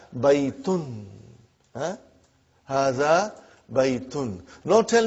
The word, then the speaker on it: بَيْتٌ: Marthe will be Mohammad they are not very sure about the endings because that's the way you stop it you don't put that you know pronounce the last but here in our class we will pronounce everything so that we get a good idea of what's going on in the sentence so you will always be reading haha bye eaten haha bye eaten no